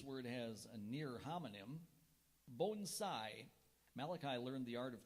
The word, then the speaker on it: bonsai: origin please is Japanese are there any alternate pronunciations there is also Bonsai have the definition it's